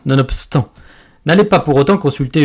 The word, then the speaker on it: nonobstant: de bosser c'est bon vous avez donc remarqué que le BE ne peut se prononcer autrement que par le son pe nonobstant nonobstant nonobstant n'allez pas pour autant